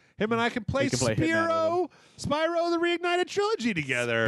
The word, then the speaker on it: Spyro: Him and I can play Spyro the Reignited Trilogy together. Spyro. I'm sorry. That's the way it looks, the way it's spelled. It's spelled Spyro, like, clearly. It's the word spy and row.